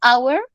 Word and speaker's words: hour: acepción entonces por ejemplo hour que significa ahora en inglés si se pronuncia así no es así si se vuelve muda pero sólo porque es un diptongo lista bien me tomo